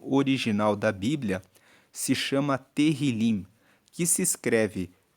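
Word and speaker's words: Tehilim: Inclusive o livro de Salmos no hebraico, que é o texto original da Bíblia, se chama Terrilim, que se escreve T E H I L I M.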